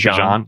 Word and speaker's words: Bijan: His actual pronunciation, he said, was Bijan.